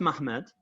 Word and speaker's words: Muhammad: It's pronounced Mahmad, but it's actually spelled Muhammad.